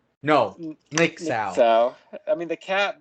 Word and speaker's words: N!xau: Ixao. No, Nick Sao.